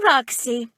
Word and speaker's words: Roxxy: I'm Roxxy. It rhymes with Foxy, so it's easy to remember.